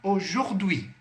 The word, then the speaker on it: aujourd'hui: Quando você se deparar com a junção do A e do U em francês, você sempre vai pronunciar com o som de o circunflexo.